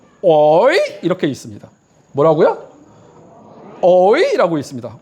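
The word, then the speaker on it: הוֹי: 어떻게 발음하냐면 어이 이렇게 있습니다. 뭐라고요? 어이라고 있습니다. 혹은 어떤 유대인은 호이라고 있습니다.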